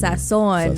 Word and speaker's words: Sazón: It is Sazón.